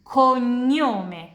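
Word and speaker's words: cognome: Dan kalian lihat GN harus diucapkan begini. N ny N konyome konyome nama belakang sonyyar sonyare bermimpi harus diucapkan kayak nyam.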